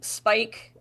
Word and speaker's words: Spikes: Anyway, so yeah, there's Johnny, Spike. Well, it's Spikes, but the S is silent.